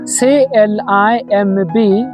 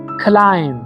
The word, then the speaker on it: climb: So, if you get MB cluster at the end of words, the B sound must be silent. በስተመጨረሻ በኩል MB ያላቸው ቃላቶች B ምን መሆን አለበት? ሳይለንት መሆን አለባት። ስለዚህ CLIMB pronounce አድርጉ ብትባሉም እንደምትሉት climb. You have to say climb.